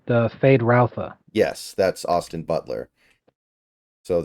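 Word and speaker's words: Feyd-Rautha: in the 80s, I believe it's pronounced Fade Routha.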